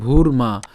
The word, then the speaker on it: ভূর্মা: এরপর একই রকমভাবে ভ দীহুকার আবার রেফ আছে, তাহলে উচ্চারণটা কেমন হবে? ভূর মা। তাহলে ভ দীহুকার এবং হচ্ছে র হসন্ত পর্যন্ত উচ্চারণ করলাম ভূর, এরপর হচ্ছে কি মা।